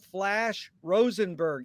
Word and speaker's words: Flash Rosenberg: and a pleasure to be here today with flash rosenberg is that the correct way to pronounce the flash yes yes that's it and